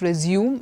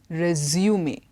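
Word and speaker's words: résumé: to a prospective employer that is resume me it's not resume it is resuming the other one is zooom okay this one is resumee and this means it's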